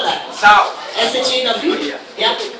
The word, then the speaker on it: Shaw: Alright, is it Shaw or please don't tell me it's Shah and they got a spelling mistake. How do you spell that? Shaw. SHAW?